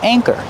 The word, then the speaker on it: anchor: Use a long a like say and day. A. Anchor. And the second syllable is the like burger. Together anchor.